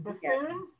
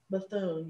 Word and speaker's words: Bethune: never know how to say her last name buffoon bethune yes and and there's another one the musician